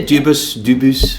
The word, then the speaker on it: Dubus: Yeah, Dubus, where it depends where we are.